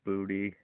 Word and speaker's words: Boutte: And then you have another underrated receiver in Kayshon Boutte, or Boot. I can't pronounce his name. He has the most touchdowns on the team with 5. It is Boutte.